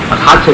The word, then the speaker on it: 사제: 나중에 해감해서 적을 기억을 합니다만은, 아무튼 사제 이것은 역사자 신실할 채자인데 이제 영천 따라서 사제라고 발음합니다. 신실할 채자만. 사성제 또는 사진제. 지금은 뭔가 다 골든 사람들은 그냥 채자 그대로 해서 그냥 사채 그렇게 발음합니다만은, 그러면 옳다고 할 필요는